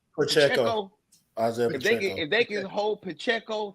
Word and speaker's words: Pacheco: As long as they can man, how you pronounce their running back name? Pacheco.